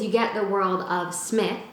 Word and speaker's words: Psmith: get the world of smith the p is silent it's like pterodactyl you know it's funny when i say leave it to smith like i can see